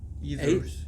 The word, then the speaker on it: Aethers: Aethers, yes.